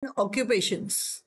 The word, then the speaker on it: occupation: ऑक्युपेशन्स people म्हणजे माणसं अँड म्हणजे आणि ऑक्युपेशन म्हणजे त्यांचे उद्योग ऑक्युपेशनचा स्पेलिंग बघूया आपण ओ सीय क्यू पे पन टीचा उच्चार नेहमी शन होतो ऑक्युपेशन्स ऑक्युपेशन म्हणजे अनेक